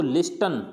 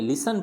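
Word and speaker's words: listen: जैसे अब इसको लिस्टन, लिस्टन नहीं पढ़ेंगे, लिसन पढ़ेंगे, क्या पढ़ेंगे, लिसन, यानी टी यहाँ पे क्या साइलेंट हो जाएगा, TN है तो लिसन।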